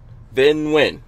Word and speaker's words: Vinh Nguyen: Vinh Nguyen? Nguyen. Vinh Nguyen.